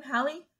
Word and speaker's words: Halle: about um Chloe and Halle exactly pronounce her name Holly yeah and these people